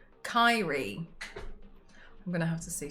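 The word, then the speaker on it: Kairi: Kai rhymes with Tyree. Kyrie.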